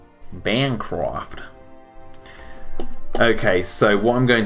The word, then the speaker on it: Bancroft: but then again you're also British what who pronounces it wrong Bancroft okay so what I'm going to do now